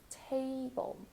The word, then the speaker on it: table: Let's table. For table, the first syllable is stressed. Tei. Do that diphthong sound, this A, você, A, same sound.